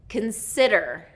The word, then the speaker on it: consider: Consider is 2nd syllable stress.